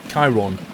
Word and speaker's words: Kieron: PS name is pronounced Chiron.